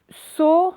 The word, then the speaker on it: saut: Et à la fin de saut, il y a un T qu'on n'entend pas parce que ça fait sauter.